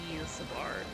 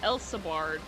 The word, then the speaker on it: Ilsabard: So it's the double E sound. Ilsabard. Not L as an E-L. It's Eel. Ilsabard.